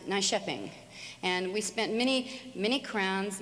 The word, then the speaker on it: Nyköping: So anyway, we were in Stockholm, and then went to Helsingborg, a little place that looked like on our sheet when we wrote out Nykoping, and it's pronounced Nyköping.